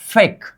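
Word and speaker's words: 백: आगे आ गया मतलब ब का उच्चारण अब क्या होगा? फ होगा। ये हो गया फ। और इसको हम बोलते थे ए बोलते थे क्या? ए। मतलब फ प्लस ए क्या होनी चाहिए? फे होनी चाहिए। क्या? फ प्लस ए इक्वल टू फे। और ग नीचे आ जाने पर हमेशा उच्चारण क्या होता है? क मतलब इसका उच्चारण क्या होगा? फेक।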